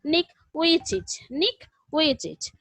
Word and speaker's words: Nick Vujicic: The total lesson is about Nick Vujicic. The exact pronunciation is Nick Vujicic.